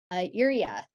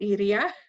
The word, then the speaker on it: Iria: insight and an expertise urea yeah hello everyone so say you pronounced my name really good my name is iria um and for the